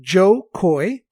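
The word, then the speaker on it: Jo Koy: His name is spelled Jokoy. That's right, Joe Coy.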